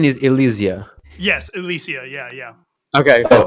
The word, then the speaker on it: Ilysia: Right, so pronunciation is Ilysia.